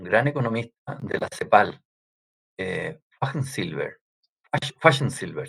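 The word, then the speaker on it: Fajnzylber: Pero me gusta muchísimo esta reflexión que hizo un economista, un gran economista de la CEPAL, Fachsensilber se pronuncia, alemán, de gallo.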